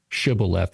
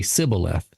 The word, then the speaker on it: shibboleth: Israelites and they say say this word shibboleth and they say sibboleth. They can't say the word. Right. They can't they can't match the pronunciation.